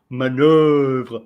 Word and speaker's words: manœuvre: That kind is the way, because sometimes they say manoeuvre. They are pronouncing the second syllable more longer, but this time it's okay.